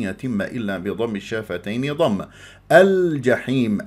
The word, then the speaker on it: الجحيم: الا بضم الشافتين ضم الجحيم اللام قمريه ليش بعد حرف متحرك الجيم مفتوحه ابغي حجك وخف عقيمه هذه الحروف القمريه لما تكون اللام قمريه يجب ان يجري فيها صوت وفتره زمنيه بسيطه لانها من احرف التوسط لين عمر الجحيم الجحيم